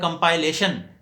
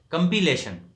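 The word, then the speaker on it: compilation: حیثیت سے اس کا، لیکن اس کا ناؤن جو ہے کمپائلیشن اس کا تلفظ بناتے ہیں وہ غلط ہے۔ کمپیلیشن، کمپائل سے کمپائلیشن نہیں بلکہ کمپیلیشن۔ اور اسی طرح ایڈمائر ہے،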